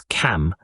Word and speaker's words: Kam: These commands were accompanied with the mantra of this tree, which is Kam, and must be pronounced by prolonging the sound of the 2 last letters, like this. K.